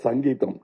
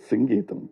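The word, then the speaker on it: Singeetam: get very upset because say Mr. Sangeam. No it is singam please.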